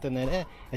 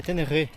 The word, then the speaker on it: Ténéré: Ele falou que a pronúnessa correta de tener, que nós brasileiros falamos tener é tenerê.